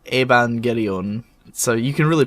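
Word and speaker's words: エヴァンゲリオン: pronounce properly yeah well technically it would be um the japanese name would be shin seiki iban gereon so you can really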